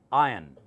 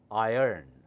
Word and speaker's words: iron: now listen very carefully in British English is pronounced as ion just as hydrogen ion or o ion R is silent here should not be silent